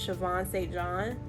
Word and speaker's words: Siobhan St. John: Anyways, it's called Scars Left to Heal, and it's by, the way you pronounce the name is Siobhan St. John.